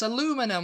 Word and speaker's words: aluminum: yeah and you know a lumin you know it's aluminum we're dropping that i you know we're dropping